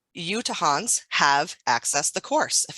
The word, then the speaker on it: Utahns: and Policy and Practice, which is how you to Hans have access the course if anyone wants to correct my pronunciation I welcome you to do that. Utahns is great.